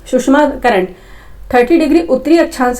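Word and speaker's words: Tsushima: सुषमा धारा क्या है इसका देखो स्पेलिंग टी साइलेंट है सुषमा करंट 30 डिग्री उत्तरी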